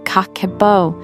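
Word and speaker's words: Kakeibo: strategies more effective and sustain aable section two Cabo Mastery let me introduce you to a powerful Japanese money management system that transformed my own finances Cabo pronounced kako is a centuryold journaling method that increases savings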